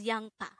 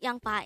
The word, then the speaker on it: 양파: as a two-suitable word the first syllable is yang the second syllable is pa pronounce it with me